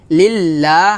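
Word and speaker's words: لِلّٰهِ: হবে লিল্লাহ হাজেরহি লিল্লাহি এখানে লা হবে ল হবে না হবে লা কারণ লফজের লামের ডানে কি আসছে জের আসছে আমরা জানি যে লফজ জালের লামের ডানে যদি জবর কিংবা পেশ আসে তাহলে মোটা হয় আর লামের ডানে জের আসলে লামটা পাতলা হবে তাহলে এখানে হবে লা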